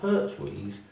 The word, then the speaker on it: Pertuis: Well, the Pertwees, if we want to go right back, there was a place, there still is a place in France, in the Provence area, called Pertwee, and it's spelled Pertuis.